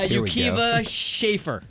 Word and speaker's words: Akiva Schaffer: amazing pronunciation dang it I'm going to totally butcher the last one uh Yuka schaer no that's fine that was right how are